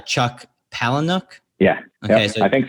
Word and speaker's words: Palahniuk: And am I pronouncing his name right? Chuck Palahniuk?